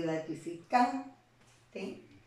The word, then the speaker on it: gratificante: En el caso de gratificante, ¿no? La sílaba can va a ser la sílaba tónica y las demás van a ser sílabas átonas.